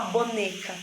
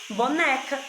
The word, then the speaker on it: boneca: Mas quando você vai ler as sílabas, o boneca, você não fala boneca, boneca. Você fala boneca. E aí você dá um som aberto aí para a letrinha E.